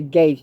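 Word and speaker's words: Gaetz: it to matt gates i pronounce the gates g-a-e-t-z some pronounce the gaps i am smack gates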